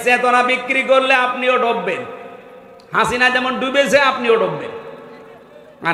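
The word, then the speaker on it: حسنة: লক্ষ লক্ষ মানুষকে দেখলাম কাবা শরীফে এই রুকনে আমিনি থেকে হজরে আসওয়াদ এটা পার হওয়ার সময় এই নামটা উচ্চারণ হচ্ছে, হাসিনা না হাসানা।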